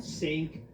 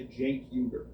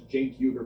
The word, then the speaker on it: Cenk Uygur: It's not that hard to say Cenk Uyghur. It's really not that hard to pronounce Cenk Uyghur, but people constantly, continuously mispronounce it to his face.